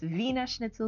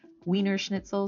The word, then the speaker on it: Wiener Schnitzel: Now, in terms of language, one really handy thing to keep in mind is that the W in German is pronounced like a V sound.